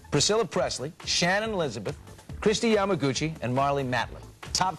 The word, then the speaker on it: Yamaguchi: Yamaguchi.